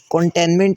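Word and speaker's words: containment: एम ई एन टी तो ये जो इसके अंदर पहला टी है कंटेन वाला वो तो ठीक है लेकिन जो दूसरा टी है वो हमारे पास साइलेंट है टोटल तीन टी आ रहे हैं एक फर्स्ट एक मिडल और एक लास्ट पे तो जो सेकंड वाला टी है वो इसकी प्रोनंसिएशन होती है कंटेनमेंट तो सेकंड वाला टी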